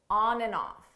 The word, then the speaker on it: on and off: rain on and off on and off notice here the and you don't hear it at all it sounds just like a n on off ONN off on off and then you combine